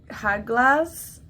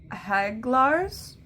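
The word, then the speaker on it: Hagalaz: So, it is a rune, but my apologies, I pronounced it wrong. It's pronounced Haglars, which I guess means hailstones.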